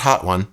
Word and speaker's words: Hotone: got it's a weird name I got the hotone which I do know that's how you pronounce it it's not hot one I asked it is hotone and uh this